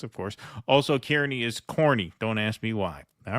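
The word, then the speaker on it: Kearny: H Houston Street hon Street in the city's pronounced hon yes of course also Kierney is corny don't ask me why all right thank you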